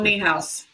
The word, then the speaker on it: Niehaus: And you worked with Paul, is his name pronounced Niehaus or Newhouse? Paul Niehaus. Niehaus, yep.